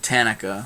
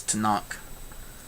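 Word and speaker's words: Tanakh: gonna make fun of my pronunciation of i said tanika uh he says tanak you know that's that's the name of it right there i've never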